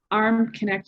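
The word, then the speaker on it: Armknecht: through linkedin you can find me at arm connect arm connects my maiden name and it's spelled a r m k k-n-e-c-h-t so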